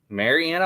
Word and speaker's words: Marianna: Also, if you're in the Marianna, Arkansas area, did I say it right this time? Yes, sir. Marianna, Arkansas.